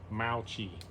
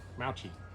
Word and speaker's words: mochi: it told me that the proper pronunciation is actually Mauchi, with infinite emphasis on the first syllable. Mouchie.